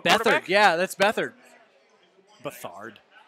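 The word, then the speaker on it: Beathard: Bethard. Rhymes with another word. Hoisted on your own petard.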